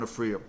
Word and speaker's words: Aphria: Now I am saying Aphria now correctly this time.